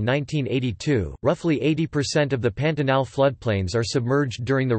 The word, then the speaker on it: Pantanal: The Pantanal Portuguese pronunciation, P-ta-na, is a natural region encompassing the world's largest tropical wetland area.